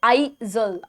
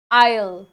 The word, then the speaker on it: aisle: अब इसमें जो एस होता है वो साइलेंट होता है. ठीक है, the next time you are eight supermarket, remember that you are walking along the आयल with the silent S. ठीक है, just think of the word ISLE, that is also आयल.